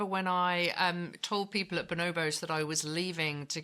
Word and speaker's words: Bonobos: Actually, Bonobos.